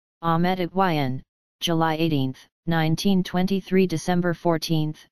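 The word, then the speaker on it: Ahmet Ertegün: Ahmet Ertegun, Turkish pronunciation, Ahmet Ertegun, July 18, 1923 December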